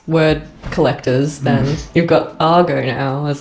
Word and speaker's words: argot: It looks like argot, but I'm pretty sure it's argo. Argo. Yes. Like the movie.